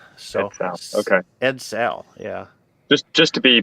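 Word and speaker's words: Edsel: car yeah a eds a l so okay ed sale yeah just just to be pedantic on the pronunciation people playing along at home not making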